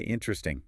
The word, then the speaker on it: interesting: Or another one. Interesting. Written, it's 4 syllables. Interesting. But we say interesting. Interesting. Yeah. Or maybe even interesting. Exactly. The weak vowel, the schwa, just vanishes to speed things up.